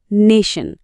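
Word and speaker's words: nation: না আসল ব্যাপারটা এখানেই নেশন শব্দে টি আর আই একসাথে মিলে একটা স সাউন্ড তৈরি করছে আর ঠিক এই কারণেই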